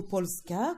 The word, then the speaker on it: Polska: Carr la Pologne ou Polska comme on le prononce bien ici et le pays